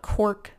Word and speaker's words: Cork-Ease: Not to be confused with, I think it's spelled K-O-R-K-Y-S, which is different, but Cork-Ease.